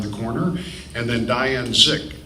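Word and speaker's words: Dzik: corner, and then Diane Zick. It's D-Z-I-K, but pronounced Zick.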